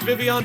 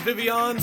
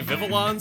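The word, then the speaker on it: Vivillon: with the Pokemon Vivion and it is officially pronounced Vivion but not a lot of people know that it's Vivion so a lot of people say vivilan so which is it when I named this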